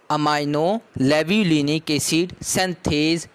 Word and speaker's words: अमाइनो लेव्युलिनिक एसिड सिंथेज: ये दोनों आपस में मिलते हैं with the help of the enzyme अमाइनो लेव्युलिनिक एसिड सिंथेज। मैं एक दफ़ा दोबारा प्रोनाउंसिएट कर देता हूँ, अमाइनो लेव्युलिनिक एसिड सिंथेज।